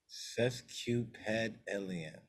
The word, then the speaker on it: sesquipedalian: SESQUIPEDALIAN. Sesquipedalian. Sesquipedalian. All right. Like a cesspool, a shit. Q, like Cupid. All right. A pedal, pad. How you spell pad? Oh, ped.